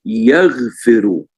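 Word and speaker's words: يغفر: And if you look at the bottom one, it's yaghfiru. Kalau kita lihat di bawah itu menjadi yaghfiru, dibacanya yaghfiru.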